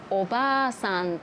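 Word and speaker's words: おばあさん: 例えばビールとビル、おばあさんとおばさん、おじいさんとおじさん。最初に言った言葉は長音が入っています。おばあさん、おじいさんでも 2 番目に話した単語は超音が入っていません。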